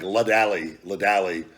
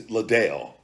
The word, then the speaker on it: Ladale: I'm like trying to say it like Ladali. It's Ladale.